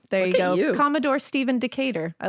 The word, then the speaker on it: Decatur: Commodore Stephen how do you say it Dave Decatur I was like table no Decatur oh yeah yeah d-e-c-a-t-e-u-r or whatever there you go Commodore Stephen Decatur I like it he visited the Hanover Iron